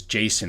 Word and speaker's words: JSON: the settings.json or json there's two pronunciations but the actual pronunciation from what i understand is json as in the name json and all that is